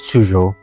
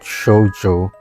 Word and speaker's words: Shujo: I'm pretty sure it's pronounced Shujo, not Shojo.